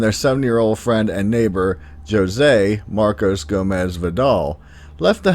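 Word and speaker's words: José: hear names like this which you may naturally think is pronounced jose but in portuguese is actually said as jose i normally don't mention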